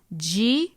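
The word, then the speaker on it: ヂ: But if you happen to see this, ji is pronounced with a J sound and zu is pronounced with a Z sound.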